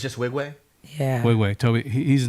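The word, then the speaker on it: Nwigwe: pronounce his last name wig way yeah that's it yeah the N is silent so I used to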